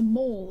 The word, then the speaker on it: maul: It's a maul, isn't it? A mole? It's spelled M-A-U-L.